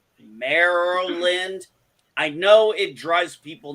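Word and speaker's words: Maryland: california avp lives in merlin yes i said merlin deal with it that's how i pronounce it do you know how hard it is for me to say merrell lind i know it drives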